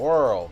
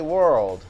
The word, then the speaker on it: whirl: And the lady at Kashada told me it was called a whirl bet. And she didn't say world, she said whirl.